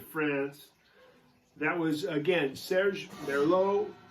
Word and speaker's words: Merlaud: That was, again, Serge Merlaud. It's just like the wine pronounced, but it's not spelled that way. It's Merlaud.